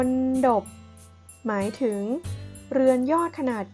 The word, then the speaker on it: มณฑป: ไหม คะ นี่ คือ มณฑป ออก เสียง ตาม คุณ ครู นะ คะ อ่าน ว่า มณฑป หมาย ถึง เรือน ยอด